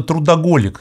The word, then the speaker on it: трудоголик: думаешь то вы именно трудоголик с таким ударением на последний слог То есть сродни алкоголику